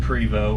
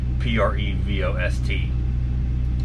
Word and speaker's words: Prevost: some people call them Prevot or pretty fast that's it looks like it's about prev OST but it's like a french-canadian word primal is the proper